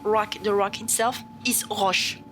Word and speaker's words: roche: If you're talking about rock, the rock itself is roche.